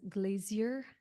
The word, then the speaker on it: glacier: many glaciers here um or as my mom says Glazier U because that's the British pronunciation she she comes and